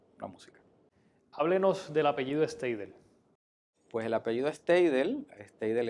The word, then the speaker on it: Steidel: Decimos Steidel porque lo castellanizamos, pero la pronunciación correcta es Steidel. Pero todos en Maunabo lo pronunciamos Steidel. En algunas personas que conocen el idioma alemán, pues lo pronuncian en alemán, pero proviene de alemán